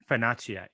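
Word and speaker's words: Fonacier: stand out is Nanny Chai, and you can pronounce her last name for me. Fanache.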